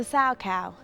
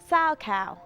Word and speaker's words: Salchow: it sa cow or sour cow but it's actually spelled s a c h o w and pronounced sow it's named after its